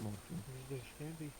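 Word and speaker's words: morfin: It is the same as the English word, and morphine is also pronounced morphine. Except it is spelled M-O-R-F-I-N. So just morphine.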